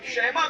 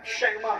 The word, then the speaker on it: شیما: شیمہ کا نام سنا, لوگ شیما بھی کہتے ہیں شیمہ بھی کہتے ہیں, تلفظات کے اندر میں آپ کو جانا نہیں چاہتا. میں فقیر آدمی ہوں, جس تلفظ سے بھی آپ بولے ٹھیک ہے, بات پہنچ جائے. شیما بھی صحیح, شیما بھی صحیح, بہرحال زیادہ صحیح علماء نے فرمایا شیما ہے.